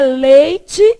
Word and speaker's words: leite: É leite, o I não some e é pronunciado.